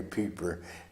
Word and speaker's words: Pieper: Pieper, we pronounce it Piper instead of the German way Pieper, because there was a war criminal named Pieper in the Belgian Bulge.